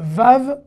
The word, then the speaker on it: vav: déjà son sa prononciation le vav à se prononcer ve mais vous allez me